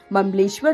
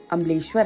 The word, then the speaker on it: ममलेश्वर: मान्यताओं के अनुसार ओमकारेश्वर ज्योतिर्लिंग के दर्शन तब पूरे माने जाते हैं जब आप ममलेश्वर ज्योतिर्लिंग के भी दर्शन करते हैं। ममलेश्वर जिसका सही उच्चारण अमलेश्वर है।